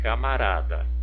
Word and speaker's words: camarada: A outra aqui, camarada. Olha, a sílaba tônica pronunciada com mais intensidade, mais força, foi o rá. Então, vamos verificar a posição do rá, da sílaba rá.